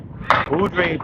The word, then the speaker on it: Beaudry: And Craig Beaudry. Beaudry is Beaudry.